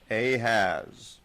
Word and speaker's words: Ahaz: this week we have ahaz and to help you remember that he is not a good king his name kind of rhymes with ahab who was the really